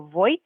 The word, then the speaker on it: voy: Now, depending on different accents, some people will pronounce the letter V in Spanish more like a B sound.